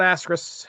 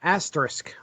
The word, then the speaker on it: asterisk: it let's talk about asteris asterisk I'll say it right asterisk 51 asterisk 51.